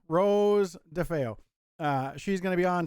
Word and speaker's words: Rose DeFeo: of us i've got rosie excuse me rose ah i butchered that all the time uh rose defeo rose defeo uh she's gonna be